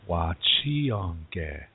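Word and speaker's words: wachiyongge: Wa chi yong ge. Now, do you hear the yong? You hear that slight N sound at the end? That's a nasal sound, a nasal N. Yong. Almost like yawn, yeah, like saying the English word yawn, but you don't finish that N sound, so you say yawn.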